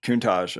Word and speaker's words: Countach: with Jethroe, and then how do you pronounce it? Countach or Countach? Countach. Okay. Like the Lamborghini.